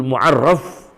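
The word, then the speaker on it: al-Mu'arrif: qwaid tasawuf almursyidul muarf bukan Muarif ya bacanya ini Ya almursyidul muarraf maaf Jangan dibaca almuarif bimani WA Asror qwaid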